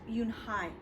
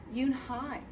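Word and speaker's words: Unhei: It's pronounced Yoonhai. And it means grace, Mr. Kim added. Yoonhai, Joey said slowly and this time perfectly.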